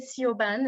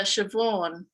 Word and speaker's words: Shavonne: pronouncing your name right when i said ceo ben is that how you pronounce her name it's it's uh shavonne oh my goodness i'm